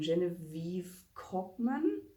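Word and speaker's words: Genevieve Cogman: but um is the invisible library by um genevieve kochmann that's how you pronounce her name um i have i've read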